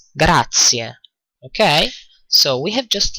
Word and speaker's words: grazie: which means "and you" notice that the "z" in "grazie" is pronounced as "TS" : "Gratsie" ok so we have just learned how to say: "good thanks and you?"